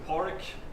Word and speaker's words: Padraig: First name is Porrick, spelled Padraig, and surname is, spelled, I suppose.